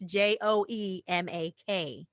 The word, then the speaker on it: Makkar: Okay, and just for anybody that's listening, okay, because they might be trying to spell it like Mac, like I'm the Mac, I'm Macking, but it's not that. It's Joemak. Right.